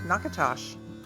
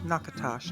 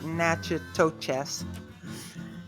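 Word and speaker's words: Natchitoches: Our next stop is historic Nakatosh. Mhm. That's how it's pronounced. Nakatosh, not Nacho Toes.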